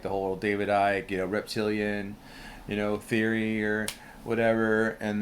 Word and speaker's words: Icke: like the whole David Icke, reptilian, theory, or whatever. And then that's worth looking into if you're not hip to that. Ike is spelled ICKE.